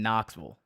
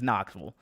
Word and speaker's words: Knoxville: How do you say Sevierville like a native, or even Knoxville, the city where UT is? So yeah, there's no vills in Tennessee. It's vull. I think so. Knoxville is Knoxville.